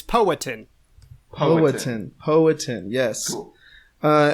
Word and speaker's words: Powhatan: video on YouTube that says that's how to pronounce the name of the tribe it's poetin po potin poetin yes uh and as we